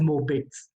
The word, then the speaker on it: Mobitz: The word is Mobitz. Mobitz 1 या Mobitz 2. ठीक है, आपकी मर्जी, आप टी को प्रोनाउंस करो, यानी Mobitz 1 या Mobitz 2.